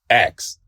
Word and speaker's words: ask: said the same way that we don't like ask like ask like ask yeah like M I